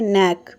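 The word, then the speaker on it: knack: उसके लिए एक वर्ड होता है नेक। के एन ई सी के। यहां पर के जो है वो साइलेंट है। ओके? इसे हम नेक ही बोलते हैं।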